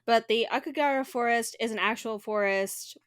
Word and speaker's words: Aokigahara: Akigara is how I'm going to say it. I know that's not the correct pronunciation, but the Aokigahara Forest is an actual forest.